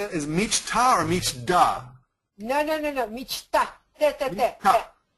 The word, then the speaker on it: мечта: C-H-T-A. C-H-T-A. And Мечта. say Michta. Да. Мечта. Very nice. Okay, say it. Is Michta or Michda?